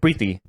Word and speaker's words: Preeti: Is that how you say it though? I don't think that's how you say it. That's how I say So it. there's yeah, like Riyad said, Preeti. Some of them Yeah. pronounce Say it Preeti.